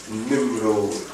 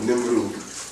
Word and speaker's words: Nimrod: 10, chapter 8, which reads, and Cush begat Nimrod, or Nimrud, okay, or Nimrod. It's spelled different ways in the Hebrew.